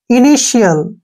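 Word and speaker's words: initial: आई ओ आया है जब भी टी के बाद आई ओ आता है तो टी का उच्चारण हम किस रूप में करते हैं श के रूप में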